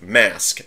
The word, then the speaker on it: Magisk: That being said, for me, I root my phone using, I believe it's pronounced Magisk, M-A-G-I-S-K.